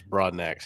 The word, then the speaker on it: Broadnax: How do you say his last name? It's Broadnax. He told me in person.